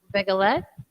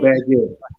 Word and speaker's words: Baguette: Begalette. That's how you say Oh, it. Baguette.